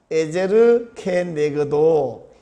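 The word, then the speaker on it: עזר כנגדו: 오늘 말씀 제목은 여러분 뭔 소리야 이렇게 느낄지 모르겠는데 에제르 케네그도 히브리어 발음을 그대로 한번 해봤습니다.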